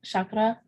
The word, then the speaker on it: chakra: connected to the root chakra and again um it's not we're not um um it's actually pronounced Shakra okay thank you um